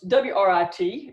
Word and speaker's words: writ: All right, so a writ of attachment, even though it's W-R-I-T, it's pronounced R-I-T, so writ of attachment.